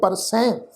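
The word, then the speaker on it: ਪਰਸੈ: सब तो पहला पाठ है परसै, पप्पा रारा ससा हाही नू सिहारी की मात्रा है। तो इस शब्द का पाठ उच्चारण करांगे परसै, नासकी टोन में पाठ उच्चारण होएगा परसै।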